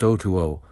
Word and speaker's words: Otu: Otu, he told me his name was, pronounced Otuo.